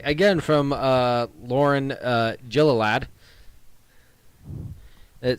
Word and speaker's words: Gilliland: Gilliland.